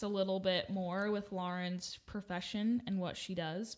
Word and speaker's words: Lauren: My name is Lauren. It's not Lauren. But it's spelled like Lauren. No. AU says aw.